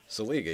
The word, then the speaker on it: Seliga: he's supposed to come that's how you say his name seliga yeah you know that zeliga there's a league it's not little actually it's anything but little oh what's this alien